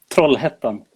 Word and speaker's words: Trollhättan: How do you pronounce it? Trollhättan.